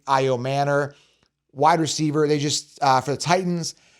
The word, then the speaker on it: Ayomanor: Alik Ayomanor, I call him Ayamanor, but they pronounce it Alik Ayomanor.